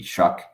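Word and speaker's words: Shough: who's the New Orleans potential, he's the rookie Shuck, quarterback. Tyler Show or Shuck. Tyler Show. Yeah, he pronounces it Shuck, which is I know that sounds stupid, but it's weird.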